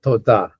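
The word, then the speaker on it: תודה: Just the simple thank you is toda. Toda. Again, it's accented on the last syllable, toda.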